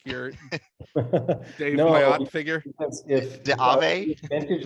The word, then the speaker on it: Myatt: Is I pronounced this both right? Myatt.